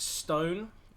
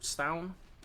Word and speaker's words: S7: Just been told that S7 is actually pronounced stone or stown from one of the kind viewers in the chat.